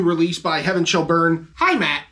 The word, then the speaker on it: Heimat: This time, we are giving you the brand new release by Heaven Shall Burn, Heimat. That is legit how it's pronounced.